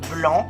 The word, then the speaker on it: blanc: Par exemple, blanc, on ne prononce pas le C à la fin.